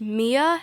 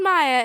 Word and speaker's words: Maya: roll, and she said, "Is your name pronounced Mia?" And I'm like, "No, it's called Maya." And she's like, "No, it's pronounced Mia." And I'm pretty sure it's pronounced Maya. And she was just making sure that my name was pronounced Mia when it really wasn't.